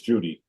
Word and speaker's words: Judy: It's Judy, Jim.